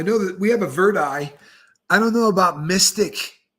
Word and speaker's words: Verdi: eye yeah they uh they actually pronounce that Verdi and uh so that's